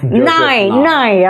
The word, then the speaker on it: Nye: about soft power Nye, bacanya Nye ya, Joseph Nye itu Nye, oke.